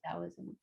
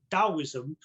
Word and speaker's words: Daoism: So some people say Taoism and Taoist, but it's actually Daoism, but it's almost like a gong.